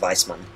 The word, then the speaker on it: Weissmann: if it's i think what weissmann is german considering i've taken uh german classes hang on this considering i've taken german classes i know it'd be pronounced weissmann let's see how how